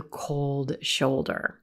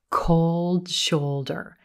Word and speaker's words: cold shoulder: cold shoulder cold shoulder we've got the letter o in the word cold and the letters o and youu in shoulder but listen closely the vowel sound at the core of these words is the same in each word the rose booat o